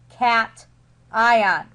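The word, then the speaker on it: cation: ion that is not pronounced C it is pronounced cat ion positively charged ions atoms could also gain electrons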